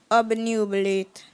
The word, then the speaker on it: obnubilate: correct and J real your word is obnubilate obnubilate am I pronouncing it correctly yes obnubilate can I have the meaning on a sentence